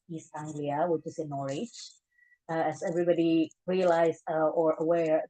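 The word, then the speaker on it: Norwich: Anglia which is in norch as everybody realized or aware that it it it it shows nor but it's actually pronounced as norch so there's no W in it funny with English and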